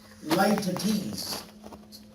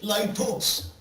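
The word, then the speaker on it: litotes: Light-a-tease. Light-a-tease is underestimation. Hyperbole is exaggeration. Some people say light-toes. Not light-toes. Light-a-tease.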